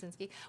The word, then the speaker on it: Kabinski: Do I say it correctly? Kabzinski? Yes, you did. Perfect. Kabzinski.